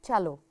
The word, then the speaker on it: cello: maybe you can wonder i say chalo although i don't have ch here because cello actually originally it's an italian name of this instrument italia that's why the italian people say it or pronounce it okay so it's chalo okay so that was